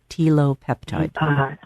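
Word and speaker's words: telopeptide: Tilopeptide.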